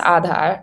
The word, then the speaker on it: Aadhaar: So so it's pronounced Aadhaar, and Aadhaar essentially is